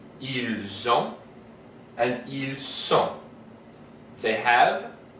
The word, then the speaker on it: ils ont: have this situation where, because the verb starts with a vowel, the S of the word before it is pronounced as part of that word with the vowel. So we have nous avons, vous avez, and ils ont.